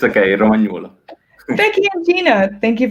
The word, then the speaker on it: Romagnuolo: Sorry, I'm not pronouncing it. It's okay, Romagnuolo.